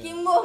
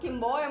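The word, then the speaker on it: Kim Bum: Kim Boom Iya, ya. Dulu bacanya Kim Boem gue.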